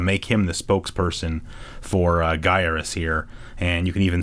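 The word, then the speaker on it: Gyruss: And then over here, we've got an ad for Gyarus, which is often mispronounced as Gyarez.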